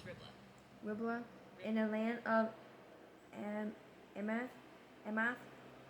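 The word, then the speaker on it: Riblah: Here's how to pronounce Ribbla. Ribbla, in the land of Amath, that he might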